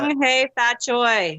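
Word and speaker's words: 恭喜發財: Kong Hei Fat Choi. Yes. Did I say it right? Yeah, yes. That's the Cantonese way of saying it, which is understandable.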